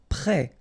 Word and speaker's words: prêt: Prêt, final T not pronounced, E accent circonflexe like that phonetically gives you the E sound, prêt.